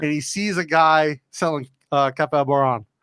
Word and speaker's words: Café: Café Boran. Yeah, the longer A. It's Café, not Café. Boran. Café Boran. Café. Café, air. Like not air.